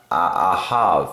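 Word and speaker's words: אהב: Ahav is how you say it in Hebrew.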